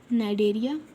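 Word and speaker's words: Cnidaria: and so third is phylum Nigeria here C is silent night area so if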